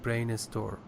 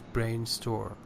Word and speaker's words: brainstorm: starting with s actually you should not pronounce air at the very beginning for example said estimulate and the other example is brain a store he said brain is store it's brainstorm even I should he